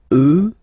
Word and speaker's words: eux: you get the sound remember, final X not pronounced, and then plural, elle, elle. Okay, so let's see them one more time. Moi, toi, lui, elle, nous, vous, eux, elle.